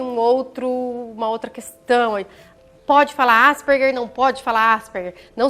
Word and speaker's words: Asperger: O Asperger, ele foi um médico austríaco, por isso que a gente pronuncia o G com Ger, Asperger, né? isso. Asperger, porque seria a pronúncia correta do nome dessa pessoa, desse médico.